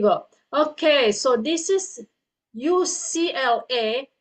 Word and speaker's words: UCLA: Okay, so this is UCLA. You pronounce that by the alphabet.